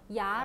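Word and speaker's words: 牙: 여기 에 ' 시작 ' 문자 가 추가 되든 아니든 , 어떻게 발음 해야 할까 요 ? 그냥 ' 야 ' 라고 하면 돼 요 .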